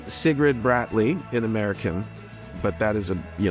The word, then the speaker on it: Sigrid Bratlie: Is it but it's really difficult for foreigners to pronounce it in Norwegian. So in the English version, it was perfect. So, but in Norwegian, you would say Sigrid Bratlie.